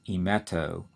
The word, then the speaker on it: emeto: and we have a combining form that is emeto e m et slash o e meto refers